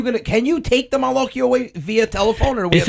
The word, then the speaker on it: Malocchio: So Malocchio, it's not Maloc, it's Malocchio.